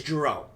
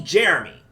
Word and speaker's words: Jerome: It's people mispronounce my name all the bloody time. My name is Jerome. And they call me Jeremy. Seriously? Come on now. People used to call me J-Rome, and all this other